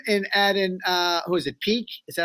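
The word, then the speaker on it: Peeke: We had the talent, but so I think adding him and adding who is it, Peak? Is that how you say his name? Peak?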